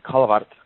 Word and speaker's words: Callewaert: I can say it like my grandma says it, in the Callewaert. It's a Dutch Flemish thing, so it's an accordion brand.